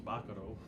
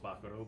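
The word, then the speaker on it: bacaro: It's actually pronounced Baccaro, but But everybody everybody says here, Baccaro. they call it Baccaro, so we keep it as Baccaro.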